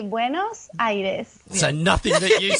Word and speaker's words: Buenos Aires: How would you pronounce it, Martina? So we say buenos-aires.